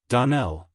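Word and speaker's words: Donnell: would set it right DaNell Accent on the last syllable and St Clare on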